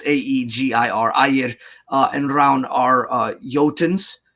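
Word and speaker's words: Ægir: You see this again with Aegir and Raun, or it's spelled strangely, but it's Aegir.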